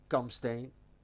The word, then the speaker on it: Kampsteen: My name there is or Kampsteen, or the way we pronounce it, Kamsteen.